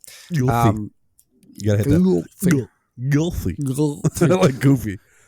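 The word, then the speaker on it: Ylfa: Don't know how to pronounce it. It's Ylfi.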